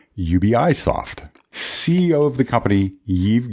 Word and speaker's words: Ubisoft: Ubisoft and some say ubi soft CEO of the company Eve young mom says if you're speaking with the native English speaker its Ubisoft when you're speaking with